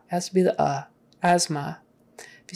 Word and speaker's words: asthma: no it's uh has to be the uh asthma if you say asma people won't know what you're talking about that's